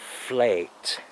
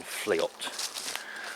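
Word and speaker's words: fleot: how you pronounce it it's spelled f-l-e-o-t and i think it might actually be pronounced something along the lines of flight rather than fleet from what i've heard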